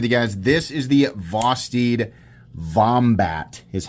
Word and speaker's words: Vosteed Vombat: This is the Vosteed Vombat, is how you say that.